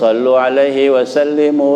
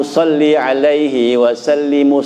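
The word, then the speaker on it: صلِّ عليه وسلِّم: Kata ustadz, ini salah Pak baca begitu. Kalau sallu alaihi wasallimu artinya selawatlah kalian gitu. Jadi harusnya bagaimana? Salli wasallimu, salli alaihi wasallimu, salawatku dan salamku padanya gitu.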